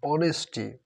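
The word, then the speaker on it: honesty: দেখো এটা দেখো, অনেস্টি, অনেস্টির ক্ষেত্রে কিন্তু এন বসবে, এটা অ হয়ে গেছে, অ হ না, অনেস্টি অনেস্টি অ, এইটা দেখো যার কারণে এন বসছে।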